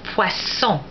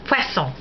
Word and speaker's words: poisson: S, as in poisson. When you have, that means fish. When you have two S's, then it's pronounced like an S, like the S in Spanish.